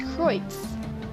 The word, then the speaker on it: Kreuz: I've come to learn that the word that I couldn't pronounce in the last episode of this is Kreuz, meaning cross.